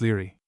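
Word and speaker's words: Laegaire: "FN number 14, pronounced Leary.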